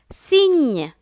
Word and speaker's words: cygne: G-N has the Ñ sound. Cygne, C-I-G-N-E, cygne.